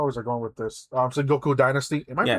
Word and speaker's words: Sengoku Dynasty: Sengoku Dynasty. Am I Yes. pronouncing that right? Yes, Sengoku Go Dynasty. to. Yes. I heard someone say Gaku Dynasty, but I'm sure Those that's people wrong. are insane, and they need to not.